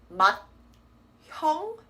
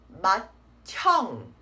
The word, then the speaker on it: 맏형: This is not pronounced as 맏형. Instead, it will be 맏형. Right? D plus the H makes a T sound.